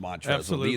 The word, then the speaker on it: Montrezl: I still will call them Montrezl, the unnecessary silent L at the end of his first name.